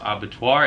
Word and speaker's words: abattoir: So it is called Antemortem's abattoir, and this is the new house for this season.